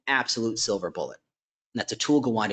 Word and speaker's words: Atul Gawande: If you've read Atul Gawande's book on checklists for surgery, it's just a thing that tends to level the playing field.